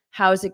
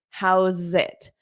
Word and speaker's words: how's it: How's How's it? Okay. Okay. So, we take this S, but it sounds like a Z, and then you connect it to the it.